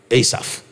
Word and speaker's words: Asaph: to give birth to asaph yeah in most Bibles it's called ASAP or is asaph asaph asaph asaph means the Lord